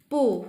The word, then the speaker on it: 不: And when 不 followed by another tone like the first, second, third, or neutral tone, it's still pronounced as 不 with the fourth tone.